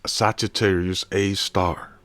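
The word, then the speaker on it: Sagittarius A*: of some organ and it's Sagittarius A star you pronounce it a star like that this is this is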